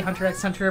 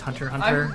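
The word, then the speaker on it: Hunter × Hunter: yeah like hunter hunter I used to say hunter x hunter but I found out later that's actually just hunter hunter I'm actually just how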